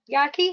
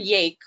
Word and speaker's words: Yake: So you are unmuted, Yaki. Sorry if I pronounced that wrong. Go ahead and speak. It's okay. Hi, Can you hear me? You can. Great. It's Yake. Rhymes with cake.